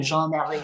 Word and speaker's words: Jeanne Marie: but my name is actually Jeanne Marie, which is a French name, Jean Marie.